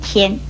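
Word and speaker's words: 簽: 另外还有这样写的签字，国语注音也是七烟签一声签。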